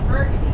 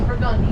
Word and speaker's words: Burgundy: Anyone who's normal, that's how you spell Burgundy. Here in New Orleans, we're not normal, and we mispronounce everything. That is Burgundy to us.